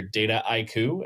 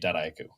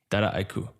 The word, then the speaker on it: Dataiku: So that's the biggest is in the US, you tend to hear Dataiku as 4 different syllables. And the French tend to say it Dataiku, since that's how they pronounce data.